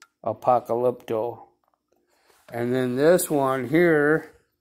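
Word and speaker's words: apokalupto: w is an o so that's how you pronounce it APA call lip toe Apocalypto and then this one here is 602 and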